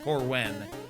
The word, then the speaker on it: Corwin: Corwin. There we go, that's how you pronounce that. EW, not IW.